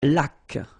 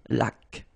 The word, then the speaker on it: laque: Une laque. Remember the rule when you get this QU, well, U is not pronounced, so you get k like that. Une laque.